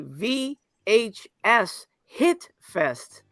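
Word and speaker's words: VHS Hitfest: by the way I I know how to pronounce this now it is not what we think it is it's actually v h s hit Fest um but at the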